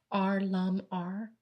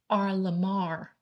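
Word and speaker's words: R.LUM.R: He's now performing with his band, R Lum R. Oh, that's not right. Somebody corrected me. It's called actually R Lamar, but it's spelled R.LOM.R.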